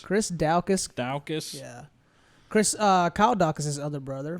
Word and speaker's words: Daukaus: Olenek, how do you pronounce that? Daukaus? Daukaus. Chris Daukaus.